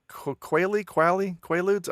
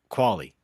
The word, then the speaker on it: Qualley: And it was the Netflix original film Io from 2019, starring Anthony Mackie and Margaret Quaaludes. I don't know how to pronounce her last name. Qualley.